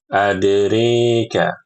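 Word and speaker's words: أدراك: Ibu-ibu perhatikan ee di surat Al-Humaza ini ya, di ayat yang kelima itu dibaca wama adrika adrika ya dibaca dengan mengimalahkan huruf ro adrika.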